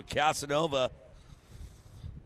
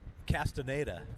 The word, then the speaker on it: Castaneda: make that leap so casanova the 18 bike i know right you want to say that every time but it's not how do you say it professionally correctly castaneda castaneda there he is the 18